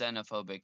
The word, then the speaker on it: xenophobic: Also, I remember a xenophobic moment in South Park where It's pronounced xenophobic. The X is pronounced as a Z.